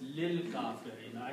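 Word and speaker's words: لِلْكَافِرِينَ: Oh, now, so when you read this, you do not pronounce this alif, so you make it lil. Yeah. So you do in tajweed, li al-kafirina will be pronounced as lil kafirina, and that's the reason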